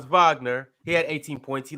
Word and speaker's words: Wagner: assists and for Germany France Wagner or Vagner he led the chase with say my name right Ron get my name right it's not wack Vagner fron Vagner he had 18 points